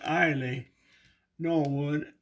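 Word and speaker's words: Eille Norwood: of the early homes actors named ailey norwood e-i-l-l-e pronounced ailey norwood and this is the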